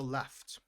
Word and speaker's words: laughed: So, promised also left. Left. Yeah, left. Uh, it's a gh sound, but it has the sound of an F.